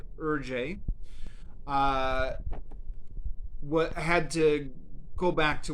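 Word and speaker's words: Hergé: newspapers so the author whose name i believe is pronounced something like urjay had to go back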